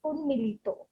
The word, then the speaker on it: উন্মীলিত: So if I do not pronounce it in a very anglicized way, it's Unmilito.